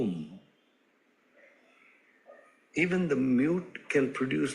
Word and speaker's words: Om: u and M M in Sanskrit grammar a and u coat to form o thus a a u u and M M together is pronounced as o om even the mute can